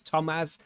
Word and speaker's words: Tomaz: It's Tomaz. It's like Thomas without the H, and it's got a Z on the end.